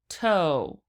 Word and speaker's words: toe: - OH - OH toe toe toe so the e on the end is silent the O becomes a long Oh sound so this is -